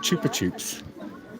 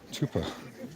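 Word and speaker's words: Chupa Chups: Yeah, they're called chuper chupes. It's like sucken suck or sucken lick. Chupa chuper means suck. So, honestly, it's chupa. We just pronounce it wrong.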